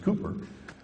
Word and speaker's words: Cowper: We're here in England, where the poet it's spelled Cowper, but it's actually pronounced Cooper, said he works in mysterious ways his wonders to perform.